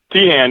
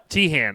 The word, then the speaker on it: Teahan: And Pat, am I saying it right? It's Teahan? Teahan, yeah. Teahan, okay.